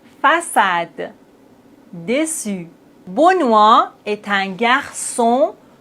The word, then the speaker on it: façade: maintenant avec cille ça ka sa français garçon façade déçu. Mais s'il n'y a pas de CD on doit les prononcer comme ça. Franqu facade mais on a la CD donc on doit dire français garçon. Façade déçu.